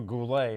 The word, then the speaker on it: Goulet: She was married to Robert Gullet, or Goulet, if you want to pronounce Goulet.